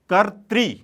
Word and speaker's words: कर्तृ: उच्चारण में ध्यान दीजिएगा, बहुत जगहों पर गलत उच्चारण किया जाता है, या आप सुने भी होंगे, करते भी होंगे। यह बना कैसे है तो मैं यहां पर संक्षेप में आपको दिखा देता हूं। क है, अ है, र है, त है और इसमें री की मात्रा है, तो यह कर्तृवाच्य है।